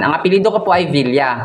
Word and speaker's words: villa: Ang apelido ko po ay villa. Kapag sa Spanish, ay via. Hindi pino-pronounce ang L.